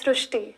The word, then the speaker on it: Srushti: So in Marathi, the word Ri is pronounced as Ru. So that is why the pronunciation goes SRUSHTI.